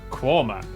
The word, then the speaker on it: Quernmore: really Gotham followed by a stop in quernmore quarma before finishing up in alwick anik which is